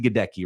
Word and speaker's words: Gadecki: You pronounce it Gadecki, right? Yes. Gadecki.